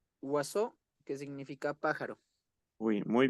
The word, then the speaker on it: oiseau: Eh, se pronuncia oiseau, que significa pájaro.